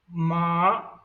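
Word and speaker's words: 马: Like I'll pronounce the first tone ma, that is the mother. The second tone ma, that is the fibrous crops.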